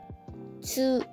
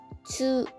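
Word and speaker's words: つ: تشکیل شده و موقع بیانش زبونتون به سقف دهانتون بچسبه و حالت لب‌هاتون مثل موقعی باشه که داریم میگیم جون یعنی بیاد جلو و حالت قنچه‌ای بشه حالا بیایم یک بار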